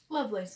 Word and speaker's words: Lovelace: this one by a mandala Lovelace Lovelace I pronounce her name Lovelace is right Lovelace okay the idea of her